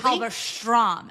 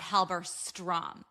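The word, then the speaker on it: Halberstram: says Halberstrom, not Halberstrom. And does that mean something in German? No. So when the ST sound in Yiddish, which is the Germanic language, is pronounced with the sh.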